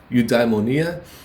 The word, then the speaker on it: eudaimonia: of eu diamond eudamonium eudaimonia i believe is a better pronunciation there and it actually turned